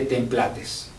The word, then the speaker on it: templates: el tema generación de templates así se pronuncia templat Disculpen ha trabajado en